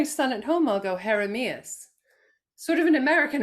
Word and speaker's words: Jeremías: My son's name is, with appropriate accenting, Jeremias.